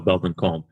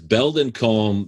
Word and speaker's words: Belldon Colme: people who can't spell Belldon Colme. It's Bell, like a bell that you ring, Don, Don of Spain, Colme is silent.